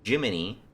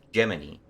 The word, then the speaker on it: Gemini: it hearing it pronounced Jiminy it's spelled Gemini and then they say it's geminy I wish I wasn't